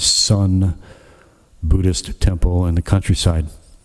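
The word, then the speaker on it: Seon: Buddha Hall in uh Korean Zen or the Korean pronunciation is Sun Buddhist temple in the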